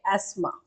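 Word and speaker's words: asthma: रोग कौन सा है एस्मा य साइलेंट होता है एस्मा होता है चिपको आंदोलन सबसे सबसे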